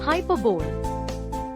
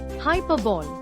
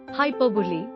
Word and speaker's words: hyperbole: Hyperbole. Incorrect. Hyperbole. Correct. HRBLI. Hyperbole. Tip: the stress is on the second syllable and it ends in li, not don.